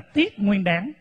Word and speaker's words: Tết Nguyên Đán: Tết Nguyên Đán thì Cái chữ Tết Nguyên Đán này đúng ra phải đọc đúng theo chữ Hán là tiết Nguyên đáng cái chữ tiếp này